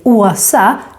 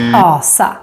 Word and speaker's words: Åsa: And here it's important to say Åsa to an Åsa and not Asa, because Asa is how we say a god in Nordic mythology.